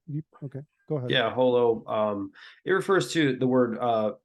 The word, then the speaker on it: HoloImmune: It Or you refers pronounce it to holo. How do you? Okay, go ahead. Yeah, holo.